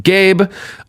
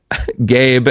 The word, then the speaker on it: Gabe: Gabe, and then I love they give a pronunciation key, and it just says, pronounce like the word gay. Then you add a B sound.